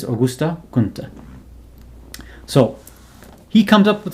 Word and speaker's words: Auguste Comte: So some people usually just pronounce it Auguste Comte, but of course in the French it's Auguste Comte.